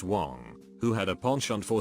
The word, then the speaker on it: Wang: I, a Caucasian, was dating an Asian girl with the last name of Wang, pronounced Wong, who had a penchant for starting drama and arguments.